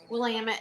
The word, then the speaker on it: Willamette: Willamette. I was Damn it. corrected. It's Willamette. Damn it. If you're ever wondering how to say it, it just rhymes with damn it.